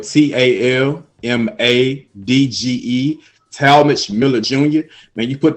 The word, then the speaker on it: Talmadge: my youtube's channel is uh as my name is spelled t-a-l-m-a-d-g-e tall mitch miller jr man you put that in i'm